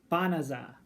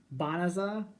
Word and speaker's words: Banaza: Banaza. It's a really weird emphasis on the ba. Banaza. I'm used to like Bonanza.